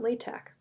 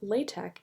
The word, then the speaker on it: LaTeX: Actually, the name of LaTeX is based on Greek letters, so the X would actually be a chi pronounced like k, LaTeX.